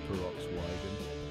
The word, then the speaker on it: Peroxwhy?gen: gen it's hard to say and pronounce perox wiag it's a blend of peroxide and oxygen symbolizing the band's goal to mix different elements into something explosive pretty fitting huh Jeff